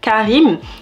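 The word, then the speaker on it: Careem: du coup je vous conseillerais de télécharger l'application Karim donc ça s'écrit C a r e e m c'est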